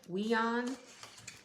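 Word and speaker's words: WION: to listen to this channel on youtube it's pronounced w-i-o-n we on and there are a lot of videos that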